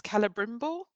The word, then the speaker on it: Celebrimbor: And how am I pronouncing this? Celebrimbor, the guy who Yeah, makes that's the right.